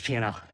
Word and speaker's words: P&L: It sounds like you're saying P, the letter N, L, but if people would just pronounce the D in and, it would sound like P and L, but everyone just says P&L.